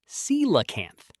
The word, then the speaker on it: coelacanth: Meet the coelacanth. Pronounced seelacanth.